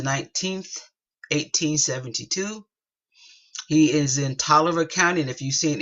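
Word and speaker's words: Taliaferro: is August the 19th 1872 he is in toer county and if You' seen any of my other videos you know that even though we pronounce it toer it is spelled t a l i a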